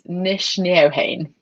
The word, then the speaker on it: Nc'nean: So we shortened it to Nc'nean, and the NC actually is like the MC in McDonald or whatever.